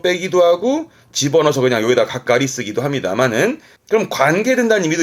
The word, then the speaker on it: 係: 맞는 개가 있잖아요 그 개의 장을 말하는 거니까 발음은 가가리죠 가가리죠 요거 때문에 언급을 했습니다 우리말은 개장이 해서